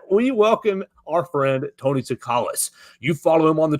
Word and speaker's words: Tsoukalas: And with that, we welcome our friend, Tony Tsoukalas. You follow him on the Twitter machine already at Tony_Tsoukalas. The T is silent.